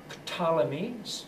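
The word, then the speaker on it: Ptolemy: when Alexander died was named pamy starting start spelled with a PT at the beginning and that family continued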